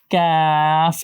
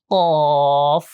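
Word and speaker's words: ق: বলার সময় সেখান থেকে কাফ উচ্চারণ হচ্ছে ঠিক তার থেকে একটু ভিতরের দিকে আরো ভিতরের দিকে মানে সামান্য একটু ভিতর থেকে উচ্চারণটা এটা হয় কফ তখন অ সাউন্ড থাকে আর আ থাকে না কফ কফ কাফ কফ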